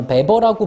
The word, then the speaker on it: Webber: Andrew Lloyd Webber라고 이름, 아마 베버라고 부르겠죠? 이 W가 독일이나, 그러니까 독일권 국가에선 W가 V 발음이 나거든요. 아마 베버라고 해야 될 거야.